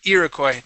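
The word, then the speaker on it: Iroquois: That is Irakcoy.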